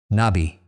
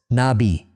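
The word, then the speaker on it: נביא: Nabi spelled in Hebrew nunb yad alf. Four letters two syllables nabi. The accent falls on the second syllable nabi.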